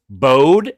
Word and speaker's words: Bode: It's Bode, not Bodie.